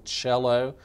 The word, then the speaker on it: cello: the double bass, the cello. Cello is the most misoften spelled word on the test. It's pronounced like it needs a C-H beginning, but being derived from the Italian, it's just C-E-L-L-O as you see on the screen.